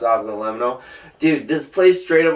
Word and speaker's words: avgolemono: It's pronounced avgolemono.